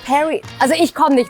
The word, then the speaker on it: Päri: "Pari" or "Päri" is the name of your label, isn't it? Yes, that's the question. Do you know what it stands for? Because you pronounce it "Päri".